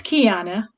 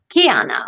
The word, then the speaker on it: Keyonna: hi everybody and kiana just to confirm i'm pronouncing your name correctly right it's kiana kiana okay so let's uh i wanna make sure